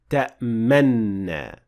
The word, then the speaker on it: تأمنا: So we'll perform that movement when pronouncing the word ta'manna. And here are two methods to get this right. Method number 1. You start Ishmam at the same time when producing the noon. So you do both at the same time, which would then compensate for the noon with dhamma that would otherwise be pronounced at that time.